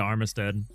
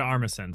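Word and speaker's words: Armisen: Look at Fred Armistad. Fred Armison. Sorry, I always get his name wrong.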